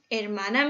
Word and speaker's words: hermana: What can you notice about letter H? In Spanish, when we read these words and any word with H, we don't pronunciate H because it's silent. So every time you read a word with H, you just ignore the H.